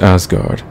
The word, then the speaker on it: Asgard: Believe it or not, 4564RD is pronounced Asgard.